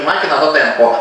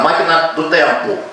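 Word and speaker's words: máquina do tempo: же самое написано но читается уже не Макина до Темпо а Макина темпу это уже по-португальски мы написали по-португальски Да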